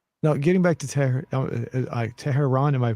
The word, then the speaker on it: Tehran: the future dream no getting back to terror tehran am i pronouncing it correctly yeah that's correct yeah okay